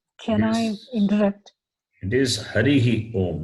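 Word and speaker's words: हरिः ॐ: The Visarga must be pronounced, not Hari Om. Visarga should not be cut. Harihi Om. Yeah, that's the right way. People say Hari Om, that is not correct.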